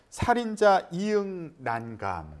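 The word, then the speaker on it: 살인자ㅇ난감: 넷플릭스 시리즈 살인자 이응 난감. 네. 예. 살인자 이응 난감이라고 읽는 게 맞죠? 네, 뭐 여러 가지 해석은 있지만 그래도 보통 읽을 때는 이응난감으로 읽는 네, 것으로.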